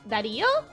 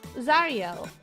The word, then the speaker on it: Zario: It just sounds like the same, like Dario? No, Dario? Zario. It's like an entirely different sound.